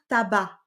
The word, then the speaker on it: tabac: Tu remarqueras que tabac, ça s'écrit avec un C à la fin. C'est étrange. Normalement, on devrait prononcer tabac, mais ce n'est pas le cas.